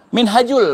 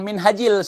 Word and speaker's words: Minhajul: Ah, Minhajul bukan Minhajil seperti yang dibacakan Kibin.